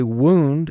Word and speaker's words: wound: first sound is wha the next sound is either ow or ooh then you have de